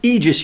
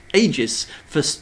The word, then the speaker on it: Aegis: It's pronounced Aegis, you savage. No, it's not, Wintermute GB. You should know better, man. It's Latin. It's Aegis. Aegis is the Latin word for safe.